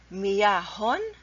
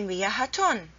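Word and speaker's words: مياه: It's wrong to say miyahatun. Miyahatun with ta marbuta, it's not a word in the Arabic language. So the correct way to say it is miyah. Add tanween. Two dhammas, miyahun. Miyahan. That's the right way to pronounce it.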